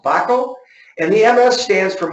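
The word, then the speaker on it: Wakol: However, we've done an extensive research, and our top adhesive that we recommend is a German product named Wacol, spelled W-A-K-O-L, but pronounced Wacol.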